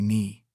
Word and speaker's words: Ni: But everyone call me Ni. She pronounced it like knee.